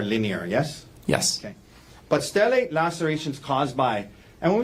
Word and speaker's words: stellate: And am I pronouncing that right, stellate? You are.